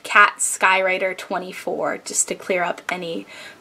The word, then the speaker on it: katskywriter24: is my favorite number and it is actually pronounced cat skywriter 24 just to clear up any pronunciation issues Piper